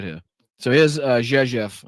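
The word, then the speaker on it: Rzeszów: So here's Jezef. I know it doesn't sound like it's it's pronounced like that, but that is how it's pronounced.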